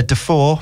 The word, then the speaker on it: Defoe: yeah maybe so yeah de for which is the the of course the northeastern pronunciation of Defoe is again a doubt